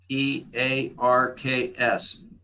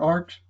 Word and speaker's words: Parks: initial r last name p a r k s okay thank you mr arch is that how you say it arcs uh parks with a p as in pilot oh p-a-r-k-s i misheard